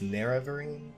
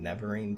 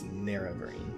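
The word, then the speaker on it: Nerevarine: about the narrow Vereen by the way it's pronounced NER every I was saying never een before apparently it's near every which you can kind of see from the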